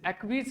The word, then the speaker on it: acquiesce: Acquiesce इसकी pronunciation है. So the right pronunciation of this word is acquiesce.